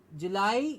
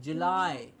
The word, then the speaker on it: July: It's not July, it's July. It's not an E sound at the end, it's I, July.